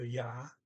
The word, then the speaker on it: ja: Okay, so ja, yes, it's J-A, notice their J's are always pronounced Y.